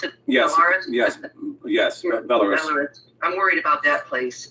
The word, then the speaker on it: Belarus: Is that how you pronounce it? Yes. Belarus? Yes. Belarus.